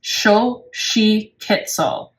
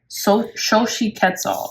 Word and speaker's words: Xochitl: Yeah, and how you pronounce the number 12 goddess is Xochitl. Xochitl, okay?